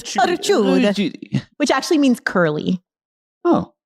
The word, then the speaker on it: Ricciuti: No, it's Ricciuti. Ricciuti. You got to say it like this with the Italian hands. Ricciuti, which actually means curly.